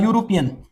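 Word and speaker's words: European: हूं अ यूरोपियन यूरोपियन यहां आप कहेंगे कि ये तो इ आया हुआ है। ये तो वोवेल है। इससे पहले हम एन लगाएंगे। नहीं आपने इस लेटर्स को नहीं देखना। आपने साउंड को देखना है। तो हमारे पास साउंड जो है वो यू का आ रहा है।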